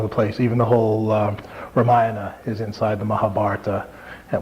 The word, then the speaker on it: Ramayana: we said before and he stressed the the ante penultimate syllable so it's Ramayana it was be would be how would be a closer approximation of how to say it rather Rama nyah Nam and ayah so right well the you